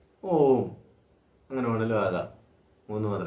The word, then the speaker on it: ഓം: ഉൾപ്പെടെ നമ്മളൊക്കെ ഓം എന്ന് ചൊല്ലുന്നത് ഓം ഇങ്ങനെയാണ് വാസ്തവത്തിൽ അത് തെറ്റാണെന്നേ പറയാൻ പറ്റുുള്ളൂ കാരണം മൂന്ന് മാത്രേണ്ടത താണ് ഓം എന്ന മന്ത്രത്തിന്റെ ഉച്ചാരണം മൂന്ന് മാത്രം എടുക്കുമ്പോൾ അത്രയും സമയം ആകില്ല ഇത് എത്ര നേരമാ നീട്ടുന്നത് അങ്ങനെ നീട്ടി തെറ്റായി ചൊല്ലുന്നത് നമ്മൾ ശീലിക്കരുത് എന്നാണ് എനിക്ക് പറയാനുള്ളത് ഓം എന്ന് ചൊല്ലിയാൽ അത് മൂന്ന് മാത്രയാകും ഓം അങ്ങനെ വേണെങ്കിലും ആകാം മൂന്ന്